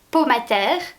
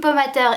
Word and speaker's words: Pomatter: Donc, navré, ce sera donc prononcé à la française. Le docteur Jim Pomater est donc le remplaçant